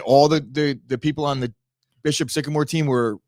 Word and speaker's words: Bishop Sycamore: Bishop Sycamore.